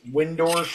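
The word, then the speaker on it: Wyndorf: I think one of the best articles I ever read on this was an interview with Dave, I think it's Windorf is how you pronounce it, from Monster Magnet.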